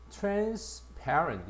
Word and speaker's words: transparent: 우리가 강세를 봐. transparent 이렇게 합니다.